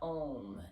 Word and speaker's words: om: or you're going to ohm an om is actually a three syllable sound it's a so we make three different sounds in there really connecting